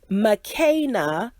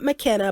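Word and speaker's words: Makena: know now is that the girls names are pronounced mccaina not mckenna but mccaina and then uh marissa is maritza so maritza apparently mccaina is a swahili name from the nation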